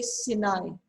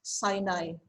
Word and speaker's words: Sinai: okay uh another thing some people um you know you say sinai right that's okay i think as long as it's uh you know we can understand but the actual the real pronunciation of this word is sinai okay so you may